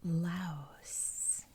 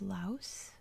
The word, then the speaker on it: Laos: The American English pronunciation is Laos with the S sound at the end.